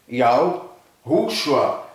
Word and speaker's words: Yahushua: Yahushua, com a tonicidade na segunda sílaba.